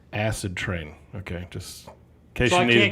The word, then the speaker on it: Acidtrain: oh oh and anthony it's it's pronounced acid train okay just okay you